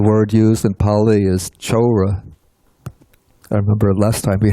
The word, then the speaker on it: chora: The word used in Pali is chora. I remember last time we had some trouble with this. Let's see. The C in Pali, it's always pronounced like CH, ch.